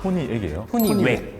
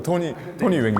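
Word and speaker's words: Tonywack: 토니액이에요? 토니웩이라는 브랜드인데 액이 아니라 와, 진짜 부끄럽다. 토니 웩요?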